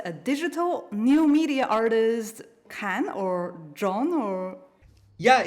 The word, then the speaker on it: Can: I have the pleasure to invite a digital new media artist, Kan or John or... Yeah, it's actually John. It's a Turkish name. It's pronounced just like Jon in English.